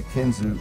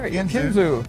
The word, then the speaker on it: Kinzua: I said, now one, how do you say Kinzua? Because it's spelled like Kinzua. Right. And they're like, well, you say Kinzua if you're not from Bradford.